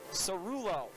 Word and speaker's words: Cerullo: an easy stop so cerullo i've done that three times tonight the goalies have very similar last names both start with a c but they're pronounced with an s and uh default me